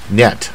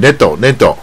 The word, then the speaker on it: net: 啊，就像那个网字 net，它不是 neat 或者 net，所